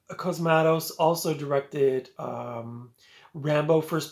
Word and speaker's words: Cosmatos: of a thriller uh directed by George P cosmatos I finally pronounced the last name right and you guys